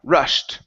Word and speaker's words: rushed: so on this word instead of rushed it's going to be rushed with a t sound rushed rushed uhhuh good good